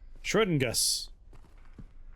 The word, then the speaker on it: Schrodingus: Hard syllable on Gus instead of Shro. Schrodingus.